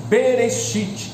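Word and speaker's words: בְּרֵאשִׁית: do idioma hebraico que em hebraico se pronuncia beresit berite traduzido para o português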